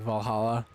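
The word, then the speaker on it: VA-11 Hall-A: It's from I'm assuming that's supposed to be kind of pronounced like Valhalla. Is that how that's supposed to be read? I wish I could get around to that. It's pronounced exactly like that.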